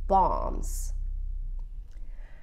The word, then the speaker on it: bombs: this is very important the B is silent bombs when the war was